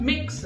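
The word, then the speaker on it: Mx: एम एक्स जो होता है उसका प्रोनाउंसिएशन होता है मिक्स, एम आई एक्स लिखेंगे हम एम एक्स, ठीक है जी.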